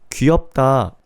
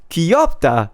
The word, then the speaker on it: 귀엽다: Like, if you just speak in wrong pitch, it already sounds off. Have you guys noticed? Or instead of, like, even the phrases, think about it. 귀엽다, 멋있다, 대박 is fine, right? 대박, 대박. It sounds off. 귀엽다, 귀엽다. Like, you know, like, don't add the pitch.